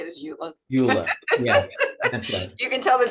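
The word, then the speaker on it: EULA: that so that's how you say it as ulas you you can tell the difference between technical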